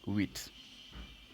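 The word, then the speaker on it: huit: more time with so the H is always kept silent and you start pronouncing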